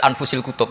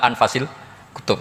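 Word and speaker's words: أنفس الكتب: saya saja di sini ditulis anfusil kutub kalau saya baca anfasil kutub karena maknanya kitab ter baik Kalau kitab terbaik bacanya bukan anfus tapi apa anfas ya nanti kamu debat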